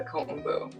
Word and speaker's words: kombu: you spell that oh it is k o m b u kombu just like it sounds okay so when we